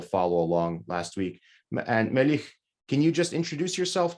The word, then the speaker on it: Melih: The last sound is like h sounds, not h sound, but it's like Melih.